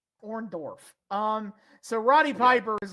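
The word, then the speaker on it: Orndorff: Paul orntoff brother sure Hogan uh Hogan Hogan consistently pronounces his name orntoff and I don't did it orndorf um so Roddy Piper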